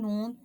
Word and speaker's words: ن: You may notice that while pronouncing noon, the sound goes to the nose automatically.